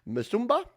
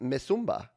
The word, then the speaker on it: Musumba: The song was written by Jen Musumba. See, I should have read this part. Pronounced Mesumba. Oh, see, I got it almost right.